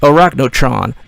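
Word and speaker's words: Arachnotron: not bowls of Steel and how do I pronounce this one Iraq no Tron the yes Iraq no Tron the minimis of the spider mastermind only difference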